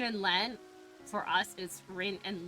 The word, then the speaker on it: Len: like, Just oh, it's it's spelled Lin and Ren, and it's like, no, it's Rin and Len.